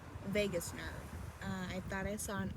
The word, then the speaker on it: vagus: once it crosses the Vargas nerve it's not Vargas it's Vegas I thought I saw